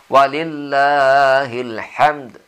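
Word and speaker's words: ولله الحمد: di ujungnya itu ada di ujungnya itu ada huruf d terkecil itu Qalqalah jadi kita harus membunyikan huruf itu tapi karena disitu ada huruf mati tadi sebelumnya maka qalqalahnya cukup kalau cair walillahilhamd jadi tidak bisa tidak usah terlalu tebal channel walillahilhamd jadi disitu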